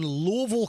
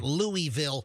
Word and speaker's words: Louisville: So, this is in Louisville, Kentucky. Notice how I say it like a local. Yeah. Not Louisville.